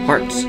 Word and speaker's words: harts: And it's spelled H-A-R-T-S. Hearts, feet.